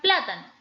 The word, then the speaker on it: plátano: ejemplo veamos la palabra plátano ya el plátano tiene tres sílabas de ellas no es última sílaba penúltima sílaba y antepenúltima donde cargo yo la mayor fuerza de voz en plan pero como